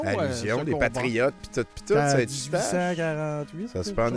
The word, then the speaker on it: Saint-Eustache: Saint-Eustache. Ou comme ils le prononcent eux-mêmes, Saint-Eustache. Saint-Eustache.